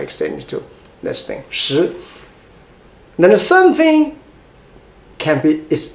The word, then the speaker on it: 食: How to pronounce it? 食, second tone.